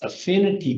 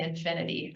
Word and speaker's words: affinity: Affinity bias. You said it right this time. Yeah, I kept saying infinity In the earlier.